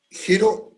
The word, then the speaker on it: hiero: Jero, que acá se escribe hiero, ¿ya?